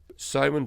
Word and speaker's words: Samhain: So Samhain in Ireland, Samhain, by the way, for those listening, is spelt Samhain.